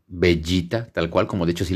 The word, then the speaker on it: Vegeta: su nombre Vegeta se se debería pronunciar como pollita o bueno bellita tal cual como dicho si le enamoran al planeta acá en latino Pero bueno acá optaron por Vegeta porque no sé pensaron